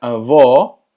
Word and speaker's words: avó: Y avó tiene el acento circunflexo, lo que hace que la pronunciación sea cerrada.